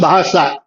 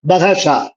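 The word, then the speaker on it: Bahasa: ஆனா பாஷாங்கிறத அவங்க எப்படி ப்ரொனவுன்ஸ் பண்ணுவாங்கன்னா பஹாசா, பஹாசா அப்படின்னு இந்த ஹா ஒண்ணு வரும், பஹாஷா அப்படிம்பாங்க.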